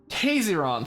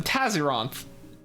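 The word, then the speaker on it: Tayzzyronth: evolved into a fierce battle among all eons Tason that's how you pronounce the the propagation name I called him Tazon Tason makes more sense two paths lost their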